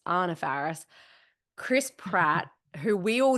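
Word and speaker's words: Anna Faris: Anna Farris which is her name is actually pronounced Anna Farris Chris Pratt who we all knew was going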